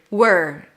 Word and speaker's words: we're: So we are and the word were may sound the same. No wonder English is confusing and it's hard to understand. This lesson is really good for comprehension as well. Listening comprehension. Again, we are, were, or we're. Depends on the emphasis in the sentence.